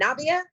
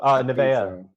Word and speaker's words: Nevaeh: How can you be rude to, how do you pronounce her name? Navia? Oh, Nevaeh.